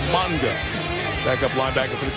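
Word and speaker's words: Mauga: there by Josh Monga used to be MAA changed the pronunciation it's now manga back up linebacker for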